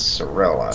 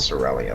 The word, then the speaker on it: Sorella: It's Sorella, not Cerelia. There's no I.